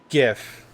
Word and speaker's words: GIF: It's a It's a GIF. a hard G because the acronym of GIF is graphic image file.